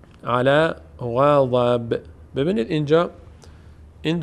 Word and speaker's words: غضب: میشه با ساکن میشه غضب اما اگر ادامه داریم چون برس تنوین واو آمده ادغام صورت می‌گیره به جای نون دیگه واو باید تلفظ بشه میشه غضب بو غض بو و یک واو ساکن به